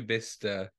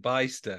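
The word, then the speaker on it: Bicester: most people in the country know bista in fact when I first went there I called it baister because I'd never even heard of it before a lot of people call it or they spell it b-i-s-t-e-r oh dear but for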